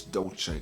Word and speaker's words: Dolce: It's Dolce, not Dole or Dolce, whatever the fuck you're trying to say.